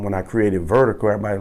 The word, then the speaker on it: Virdiko: people I met wouldn't they don't know how to pronounce it as vertical you know so anyway